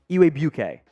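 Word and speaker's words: Igwebuike: a tricky name uh I believe it's pronounced ewe UK there's a w and a g uh mixed in there pretty sure it's Godwin eway bouquet Falcon's fans correct me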